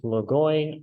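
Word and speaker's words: λόγοις: drinking soy sauce because soy rhymes with logoy soy oy soy uh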